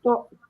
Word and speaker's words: Thorpe: Thorpe.